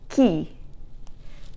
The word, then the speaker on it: chi: who, and that is chi. Chi, remember in Italian, when the C is followed by an H, it sounds like a K, and the I always sounds like E, so chi, not chi, okay?